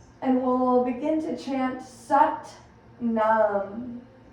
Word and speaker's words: Sat Nam: And we'll begin to chant Sat Nam, spelled Sat, S-A-T-N-A-M. It's almost pronounced Sat, a little like a U instead of an A in the S-U-T.